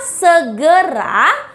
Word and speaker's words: segera: sea se ra nah kata segera memiliki pelafalan huruf e yang sama yaitu e bukan E coba kita baca Ya